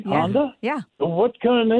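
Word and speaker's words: Handa: It's pronounced Honda, but it's spelled H A N D A. H A N D A. Honda.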